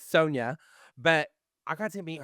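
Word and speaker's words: Sonja: And I think I've been saying her name wrong forever. Sonia, it's Sonia.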